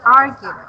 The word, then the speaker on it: argued: So the first intonation is still at the, the intonation is still at the first syllables.